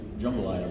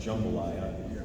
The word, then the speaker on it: jambalaya: We were friends, and he shared with me his mother's Puerto Rican jambalaya recipe, and by the way, in South Louisiana, it's pronounced jambalaya, not jambalaya.